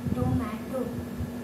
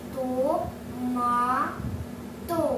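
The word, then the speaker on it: トマト: और हमारे last example है टोमेटो. हम इसे टोमेटा नहीं प्रनाउंस करेंगे, हम इसे प्रनाउंस करेंगे तो मा तो टोमाटो.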